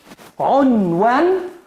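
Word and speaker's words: عنوان: Esa es la primera sílaba. On. ¿Por qué? Porque siempre cuando tenga una... No, a la abecada, por favor. Siempre al tener una letra con sukun, no podemos pronunciarla sino en la misma sílaba con la letra anterior, con la consonante anterior, con vocal. Entonces, así, on.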